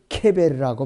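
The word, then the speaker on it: קבר: 무덤 그거에 바로 이 무덤이 히브리어로는 발음이 케베르라고 발음해요. 눈에 보이는 무덤은 케베르라고 발음하고 이 수월은 무덤과 다른 지하세계 또는 여기서 지옥으로 번역이 된 것이에요.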